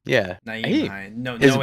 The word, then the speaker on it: Nyheim: Nyheim. Yeah. Nyheim Hines. No H. Mom, the H is silent.